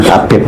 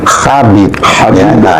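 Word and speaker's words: حبيب: itu adalah bahasa Arab yang sebenarnya membacanya kan bukan Habib tapi khabib k khabib ya dan itu memiliki arti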